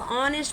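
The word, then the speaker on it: honest: खुशी, काइंडनेस, दयालुता, ऑनेस्ट, ऑनेस्ट नहीं पढ़ेंगे इसको, ऑनेस्ट पढ़ेंगे। क्या पढ़ेंगे, ऑनेस्ट पढ़ेंगे। क्या पढ़ेंगे इसको, ऑनेस्ट। ठीक है, एच हमारा क्या होता है, साइलेंट होता है।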